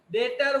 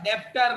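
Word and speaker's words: debtor: डेप्टर नहीं बोलने का प्राणी, बी साइलेंट है, डेटर में बी साइलेंट है, आर भी साइलेंट है, डेटर र भी नहीं चाहिए, इट इज डेटर।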